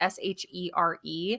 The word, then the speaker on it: Shere: in the town of, I think it's pronounced Sheer. It's Shere, which is Hmm.